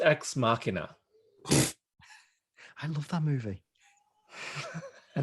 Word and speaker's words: Ex Machina: And then It's pronounced Ex Machina.